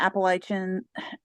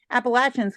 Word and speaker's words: Appalachians: Some of the outcrops on the Appalachians, excuse me, I tried to say it wrong myself. Appalachians contain rocks formed during the Precambrian era.